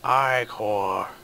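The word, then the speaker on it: ichor: I can fill it with magical i-core that's pronounced i-core shoes or i-core wisely we are going with the one that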